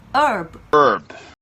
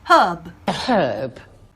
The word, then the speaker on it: herb: 미국 사람들은요, 이 단어에 H를 발음하지 않습니다. 우리 묵음이라고 보통 얘기하죠. 그래서 herb 이렇게 발음합니다. 하지만 영국 사람들은요, 영국 영어를 하는 사람들은 이 H를 발음하거든요. herb 아무 문제가 없어요.